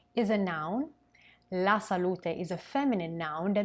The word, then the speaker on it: salute: with the final e the final letter e pronounced like an a is a noun la salute is a feminine noun